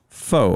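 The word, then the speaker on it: Pho: hey my last name however spelled the same as the delis delicious noodle soup is not pronounced the same which i had today it was so good oh you did yeah pronounced more like foe f-o-u he said kind of how like how rappers or southern people say the number four oh fun history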